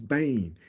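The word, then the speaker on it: בֵּן: word son the Hebrew word for it is Bane it's pronounced Bane but it's b n the the the the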